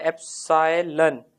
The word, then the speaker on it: epsilon: इसको बोला जाता है एप्सिलॉन, ये जो सिंबल होता है दिस इज एप्सिलॉन। क्या बोलते हैं इसको, कैसे प्रोनाउंस करते हैं, एप्सिलॉन, ठीक है।